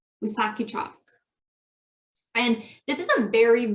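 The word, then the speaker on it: Wisakedjak: So how to pronounce this, I might mess this up, but I'm pretty sure it's Wissahickok. Wissahickok.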